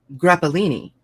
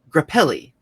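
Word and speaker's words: Grappelli: Tin Pan Alley Hollywood songwriter and composer Stefan graini or no wait Stefan grapelli a jazz violinist Roger vadam a French film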